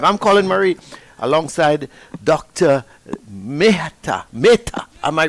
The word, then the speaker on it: Mehta: Mehta. Am I right? That is correct, Mehta. All right, I have to get these Indian pronunciations proper, Doc.